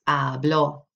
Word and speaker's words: habló: And listen to how I pronounce that habló. That accent in both your voice and in the written format is really important because remember, habló without an accent on there means I speak.